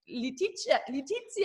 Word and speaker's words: Leticia: happy to have Leticia, how do you say it? It's more the Spanish way, right? Yeah. And I say the German way.